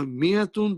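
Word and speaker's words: مائة: But we have to write alif, which is not pronounced.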